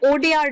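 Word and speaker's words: Wodeyar: सो यू can call it वाडियार dynasty, और यहाँ पर आप लोगों ने ज्यादातर इसका नाम ये देखा होगा, तो ये W जो है वो यहाँ पर साइलेंट है, सो यू can call it ओडियार dynasty.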